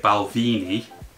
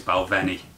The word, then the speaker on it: Balvenie: Most people say it Balvini, which is a very English way of pronouncing it, but it's Balvenie.